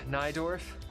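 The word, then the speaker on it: Najdorf: I think this is it yeah yeah notes pronounced naidorf listen injad dorf I have heard of the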